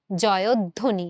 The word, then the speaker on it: জয়ধ্বনি: তুমি দেখো আমরা কিন্তু এই যে ধটা আছে আমাদের, সেই ধটাকে কিন্তু ধয়ের সাথে, যে ধ তো একটা ব্যঞ্জন বর্ণ, ধ তুমি যখন উচ্চারণ করছো এই ধটার সাথে কি আছে? অ। এই অটাকে কিন্তু তুমি অ রাখতেছো না, অধ্যাপকের মতো করে ফেলতেছো। এই অটাকে তুমি কি করে ফেলতেছো? ও এর মতো উচ্চারণ করে ফেলতেছো, সংবৃত উচ্চারণ করে ফেলতেছো।